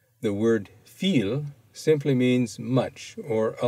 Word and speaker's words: viel: The word viel simply means much or a lot. Notice that the V has the sound of F.